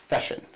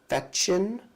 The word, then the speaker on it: Fechin: I love him so much that I say his name wrong. Feshin. Not Feshin, it's Nikolai Fechin.